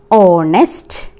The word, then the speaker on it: honest: But here used an because H is silent here.